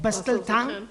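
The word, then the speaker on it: Bustleton: Basel town. Thank you. Masjid Bkari Bustel town is it street or avenue?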